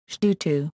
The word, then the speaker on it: 基督: Pinyin, Shdutu, literally Christ follower. The two characters now pronounced Shdu in Mandarin Chinese, were originally pronounced Kitu in Cantonese as representation of Latin Christo.